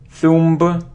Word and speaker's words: thumb: air air air very very okay it isn't Thumba or it isn't thump its thumb thumb so we don't pronounce the thumb okay good okay I think